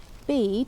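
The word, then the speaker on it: Bede: Historia ecclesiastical gentis anglorum bead or I probably should call him bedder that's probably how they would have pronounced it and tells the story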